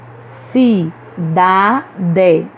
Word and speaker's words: cidade: Cidade. Festa. Festa. Churrascaria. Churrascaria. Em todas essas palavras, nós pronunciamos com mais força a penúltima sílaba, então elas são paroxítonas.